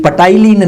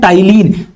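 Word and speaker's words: ptyalin: तो ये पटाइलिन नहीं है, इसे एग्जैक्टली बोला जाने वाला है टाइलिन, पी साइलेंट होता है।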